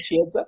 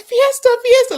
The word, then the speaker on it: Chiesa: They couldn't they still can't say my name Chiesa. But it's like Fiesta.